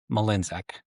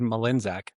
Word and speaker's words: Mlynczak: name," and it said Mlynczak. That's So, I've never asked ChatGPT how to say it, I guess. well, it said two different things. It said the more common way is Mlynczak, Check, yeah.